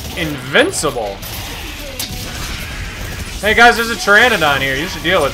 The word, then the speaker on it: Pteranodon: can't you hear a Pteranodon use the bathroom second objective because the p is silent you're getting pretty good